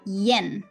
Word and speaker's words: yen: in english you say yen like y sound yen but we pronounce it without y sound not yen but so